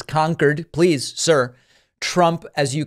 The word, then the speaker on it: Concord: Trump pronouncing it Concord, like the infamous supersonic jet, but it is Concord.